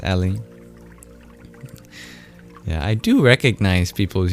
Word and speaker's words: Ellie: I remember asking if you prefer it pronounced Eli or Ellie, and I think you told me it was Ellie.